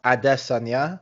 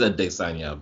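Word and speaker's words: Adesanya: no one knows apparently israel assania's name is supposed to be pronounced adessanya it is a desanya but yeah i'm nigerian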